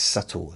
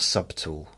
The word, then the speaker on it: subtle: trying to subtly does some people pronounce that subtly because it's got a B in it. It's subtle, not subtle.